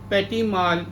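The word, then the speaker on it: petit mal: scissors also known as petimal epilepsy also known as fatty Mal epilepsy as I told you earlier this T is silent here so it is known as petimal epilepsy it is further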